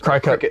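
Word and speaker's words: Cricut: Or that cure cut or circuit cut. Cry cut. Cricket. It's cricket. I always say it wrong.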